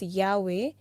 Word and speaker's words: Yahweh: was y-w-h so like when you pronounce that it's like like the way you breathe in and breathe out so and they were